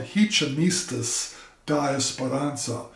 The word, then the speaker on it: Ritmistas da Esperança: the name of the bucket group is called hichimistus diasparanza uh hichimo is how you say rhythm in